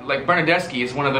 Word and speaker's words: Bernardeschi: You pronounce it ch. Ch. So like, Well, no. Italian soccer players like Bernardeschi is one of the names. Bernardeschi, but it's his name.